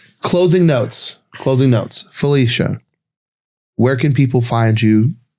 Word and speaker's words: Falisha: The biggest thing is my name is spelled a little funny. It's F A L I S H A. So Felicia, also known as.